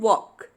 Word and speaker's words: walk: Chalk, talk and walk. Here in all the three words, the letter L is silent.